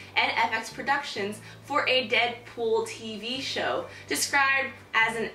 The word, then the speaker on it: Deadpool: manners introductions call me Deadpool it rhymes with no school too cool ain't no